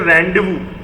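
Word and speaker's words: rendezvous: इसे कहते हैं रेंडेवू। इसकी स्पेलिंग थोड़ी अजीब है, रेंडेजवुअस। इसको हम लोग प्रोनाउंस करते हैं रेंडेवू। इसकी स्पेलिंग देखिए रेंडेजवुअस, इसे रेंडेवू प्रोनाउंस करते हैं एंड इसका मतलब है प्लेस ऑफ मीटिंग।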